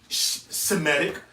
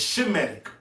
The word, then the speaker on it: Shemitic: Because it's not Semitic, it's Shemitic. S-H-E-M. It's not going into Semitic. How Esau pronounces it, that's bullshit.